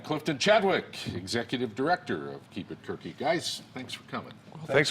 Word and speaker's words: KeepItQuerque: when you look at it it could be mispronounced keep it quirky but it's keep it quirky and joining us here at the big table